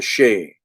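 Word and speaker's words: sidhe: the she like uh when i say the she uh s-h-i-e-d-h i think it's the way it's spelled the the shay or the shay and the she uh this is uh we get our word banshee from that that these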